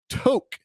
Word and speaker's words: Tok: though we're talking about to to not talk like Tick Tock it's spelled the same but this presentation was